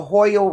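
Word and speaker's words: Hoyle: Don't forget the Hoyal resonance is the create and the creation of carbon 12 and stars. It's spelled H O Y L E.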